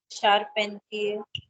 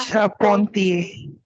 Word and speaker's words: Charpentier: Come on to the next one is IER is the pronunciation of EA. If it comes at the end of a word, EA. Okay, try pronouncing this. Anyone can respond. Charpentier. Char again. Char. Charpentier.